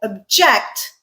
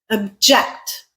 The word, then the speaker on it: object: First syllable stressed is a noun.